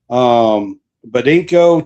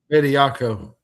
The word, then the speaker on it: Bediako: The judge allows Charles Badinko to play tomorrow in the game. Bediako.